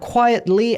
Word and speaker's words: quietly: 그래서 T와 L이 이렇게 연달아 나와 있는 경우에 T 발음을 살려줘도 돼요. quietly 해도 되는데 많은 사람들이 T 발음을 안 하고 quietly 이런 식으로 가는 것도 보실 수가 있을 겁니다.